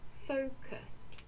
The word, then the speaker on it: focused: And notice that this has 2 syllables, not 3. Focused.